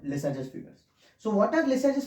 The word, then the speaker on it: Lissajous: Now, in the 1900s, there was a person called Lissajous, or actually his name is French, so the actual pronunciation is Lissajous, but most of us call it Lissajous.